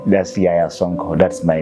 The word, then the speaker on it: Yahya Sonko: First is start by pronouncing my own name. That's Yaya Sonko.